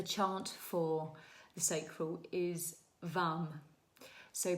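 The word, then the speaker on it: वं: The chant for the sacral is vam. So pronounce it's spelled v am but actually when you chant it it's like v u m v.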